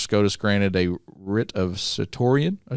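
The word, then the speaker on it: certiorari: Back in March, SCOTUS granted a writ of certoria. Did I pronounce that right?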